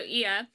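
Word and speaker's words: Oia: So Ia, which is spelled O-I with a little ding and an A. So Ia.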